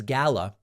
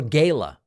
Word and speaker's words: gala: New York Young Republicans gala or gala. I don't really care which way you pronounce it. Both are fine.